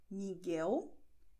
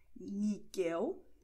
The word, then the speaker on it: Miguel: Das heißt, unsere Beispiele sind Namen von Personen und werden wie folgt ausgesprochen: Gabriel, Diego, Gustavo, Miguel, Guilherme. Aufpassen! Miguel, Guilherme, U wird geschrieben, aber nicht ausgesprochen, ist stumm.